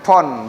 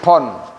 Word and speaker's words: phon: PHON, pon, bacanya pon, antara P dan V, pon.